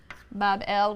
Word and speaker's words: Babel: magnificent Shrine or temple in Babylon pronounced Babel which simply means Gateway